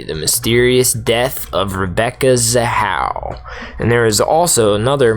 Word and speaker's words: Zahau: Rebecca Zahau, I'm sorry, I'm butchering her name. How do you say it, Zahau. Cody? Zahau.